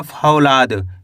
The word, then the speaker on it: फौलाद: चलिए देखिए फ की मात्रा फ ल की मात्रा ला द तो मिलके बन जाएगा फौलाद। क्या पढ़ेंगे?